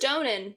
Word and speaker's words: Donen: It says Donen.